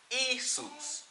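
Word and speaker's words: Ἰησοῦς: have a washdown right they didn't have a J Sam they would pronounce it isus alright isus in Greek and that was the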